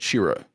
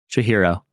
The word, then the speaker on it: Chihiro: it, Spirited Away is the story of 10-year-old Shira. How do I say her name? Chihiro.